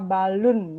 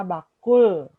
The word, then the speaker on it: Balun: Nah, untuk ada sedikit kesalahan dalam pengucapan Desa Balun ya, bukan Desa Bakul ya.